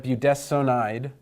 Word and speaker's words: budesonide: and so we have budesonide and we pronounced this s Oh n not a son but as sown and I'm not gonna